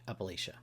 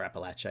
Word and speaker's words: Appalachia: the lush riverlands of Appalachia Appalachia. Or Appalachia, I guess depends on your uh pronunciation.